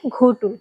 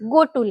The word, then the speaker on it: गोटुल: जो है उच्चारण किया घोटुल। घोटुल। तो उसमें मुझे कई आदिवासी समाज के जो लोग हैं इस पर मतलब आपत्ति उठाई कि ये घ नहीं है, ग है, गोटुल है।